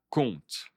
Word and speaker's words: compte: Et oui, tout ça compte. Tout ça compte. Attention, je ne prononce pas le P.